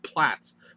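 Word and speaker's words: Platz: think with that uh want to say play most but it's plats plats and new new hobby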